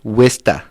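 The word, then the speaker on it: Worcester: but that's not what it's called which is pronounced which what in Massachusetts they say wsta that's right like wi s t e a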